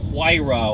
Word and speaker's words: Huayra: so the kind of looks like why raw ore por ahora as Jeremy Clarkson famously put it sounds like the noise you make when you get punched in the stomach and you throw up lakhani bra yeah it's